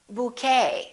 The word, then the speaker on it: bouquet: The silent T very frequently happens in words that are originally French. For example, the word ballet, it has the ET ending, and in the French language, the T is almost always silent, so English speakers pronounce it the same way.